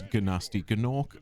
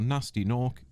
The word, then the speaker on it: Gnasty Gnorc: I'm not sure if it's Gnasty Gnorc or Gnasty Gnorc, and the game itself will use both pronunciations, so we're just going to use Gnasty Gnorc.